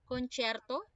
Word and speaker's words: concerto: have the Concierto Grosso when we say concerto okay you are to pronounce it concerto okay when we say